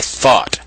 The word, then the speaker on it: Thoth: This was created or conjured up by thought. Thought is the Egyptian god Thoth, the creator of almost every activity known to man. Thought is spelled Thoth.